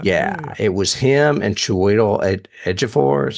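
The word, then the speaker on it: Joel Edgerton: Broadway musical yeah yeah it was him and Cho edor is how you say that Cho edor starred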